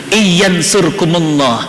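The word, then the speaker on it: إن ينصركم الله: khatamnya tapi berebut tadaburnya mohon izin alifnya itu hilang sebenarnya ada Alif di situ Iyan surkumullah Jika kamu ditolong oleh Allah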